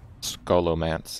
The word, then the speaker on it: Scholomance: pretty lucky to me you don't pronounce the h and oh scholomance yes that's what i